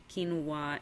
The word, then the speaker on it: quinoa: Like, the only grains that I have in my house are quinoa and buckwheat.